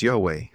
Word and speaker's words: Yahweh: ineffable name of deity, called the tetragrammaton, usually pronounced as Yahweh.